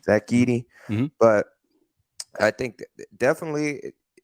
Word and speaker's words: Zach Edey: Zach Edey. Zach Edey.